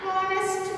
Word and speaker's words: honest: It's a H is a consonant letter, but it's silent, so we are getting vowel sound here, honest.